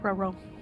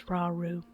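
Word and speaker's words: Rauru: Thanks, Ro. I think I'm just going to keep mispronouncing his name. It's Raru, but I keep beating up for whatever reason.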